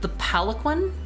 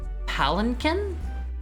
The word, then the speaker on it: palanquin: Palanquin? Wait, really? Palanquin? You said it right. Why on earth would you not pronounce the N?